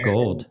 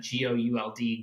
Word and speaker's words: Gould: You guys struck gold. I think that's what we'll have to call the episode. Dad, my wife's last name is G-O-U-L-D, Gould, but a lot of people pronounce it Gold.